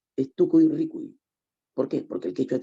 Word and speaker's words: Tucuy Ricuy: No es Tucuy Ricuy, es Tucuy Ricuy.